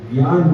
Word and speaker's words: ज्ञान: वो दूसरा कार्य है कि हमको ज्ञान की, वैसे शुद्ध उच्चारण तो जो गुरुकुल में पढ़ते हैं वो जानते हैं, जिसको ज्ञा पढ़ते हैं, ज्ञान पढ़ते हैं, इसका शुद्ध वैदिक उच्चारण ज्ञान है। ज ञ तीनों मिलाइए तो क्या बनेगा? ज्ञान। तो शुद्ध उच्चारण ज्ञान है, लेकिन अब सैकड़ों वर्षों से लोग उस उच्चारण को भूल गए हैं।